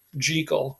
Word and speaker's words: Jekyll: because like i said it's an old scottish name but as soon as it was published in america we got it wrong and started pronouncing it jekyll and hyde and um it just sort of stuck at least on this side of the atlantic right but it's supposed to be jekyll right so when you're talking about it you can show people you're in the know by pronouncing it correctly but anyway um you